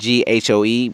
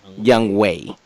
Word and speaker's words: Younghoe: week, we need to explain that his name is spelled Younghoe, but it's pronounced Young Wei, but it looks like Young Ho.